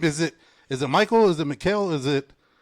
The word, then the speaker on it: Michale: He goes by the name of uh I want to say it's it's Michael, but it's spelled Male Graves.